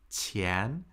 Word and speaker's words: 钱: And Qian, this character, is the very important character pronounced Qian, which means money.